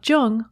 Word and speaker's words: Jung: alexa play speaking of jung on apple podcasts just be sure to pronounce jung with a hard j so with special thanks